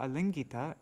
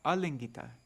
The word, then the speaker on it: alingita: verse has two meanings that should be a short a there lingita and Gita lingita means